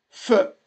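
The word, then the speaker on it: פ: est la qui que le F comme pharmacie c'est un pH il se prononce feu.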